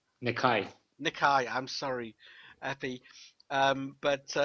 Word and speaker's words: Nekaj: I still can't pronounce it. Nirak? Nikai.